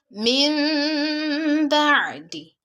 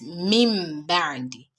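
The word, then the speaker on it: مِنْ بَعْدِ: So you pronounce it as min ba'di, not mim ba'di.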